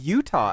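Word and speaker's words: Eutaw: and work in Utah there is a Utah Alabama as well no EU a w is how you spell it so they straight up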